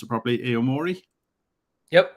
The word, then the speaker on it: Aomori: from Be Easy Brewing in, and I won't pronounce it properly, Aomori. Yep, Aomori.